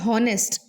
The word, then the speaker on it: honest: And because O is the vowel sound that the word sounds like, despite the spelling of the word honest being HONEST, beginning with H, the sound is O,